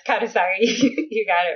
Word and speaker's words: Kanesaka: Yeah, it's Kanesaka.